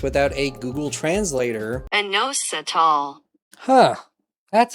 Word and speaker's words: inositol: that we can't pronounce without a Google translator, inositol. Huh. That's how you pronounce it.